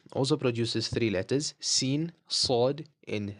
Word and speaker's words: س: Okay, so sin is the same pronunciation as a S in English, right? Same pronunciation, same sound as well.